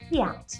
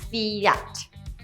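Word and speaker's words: Fiat: It should be Fee-aht, not Fee-yat.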